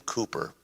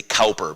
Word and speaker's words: Cowper: British man named William Cooper in English in American English we might say Cowper because that's what it looks like William Cooper in the